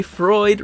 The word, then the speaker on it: Freud: reminded us to why Freud rhymes with fraud and check the description